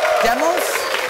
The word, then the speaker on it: Demos: Let's meet our first player, Athena Demos, I believe is how you pronounce her name. 25-year-old criminal justice graduate. Demos? Did I say it right? Yeah, you did.